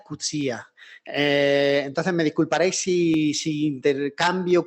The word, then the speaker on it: Coetzee: Todo el mundo, o gran parte, al mencionar Coetzee, hay una multiplicidad de formas de pronunciarlo. Yo creo que es la que se ha castellanizado, Coetzee, pero he oído Coetzee. Creo que la forma correcta es Cutzía.